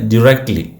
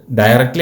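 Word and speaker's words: directly: അപ്പൊ ആ നേരെ എന്നുള്ളതിന് ഡിറക്റ്റ്ലി ഡയറക്റ്റ്ലി അല്ല ഡിറക്റ്റ്ലി ഡിറക്റ്റ്ലി ഡിറക്റ്റ്ലി I went ഡിറക്റ്റ്ലി ഞാനിപ്പോ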